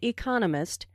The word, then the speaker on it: economist: Smith is an economist notice the stress on Economist this content word has new information so it is emphasized there are four syllables in Economist with the stress on the second syllable Economist he just finished